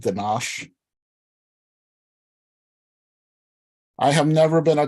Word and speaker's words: ganache: Ganache. It is mandatory to stretch out the SH sound at the end of the word.